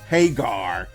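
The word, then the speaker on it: Hager: And I say it like that because in this promo with Jericho, he really emphasized the pronunciation Hagar.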